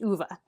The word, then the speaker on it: Ove: And I listened to the audiobook, so I know that this is pronounced Uva.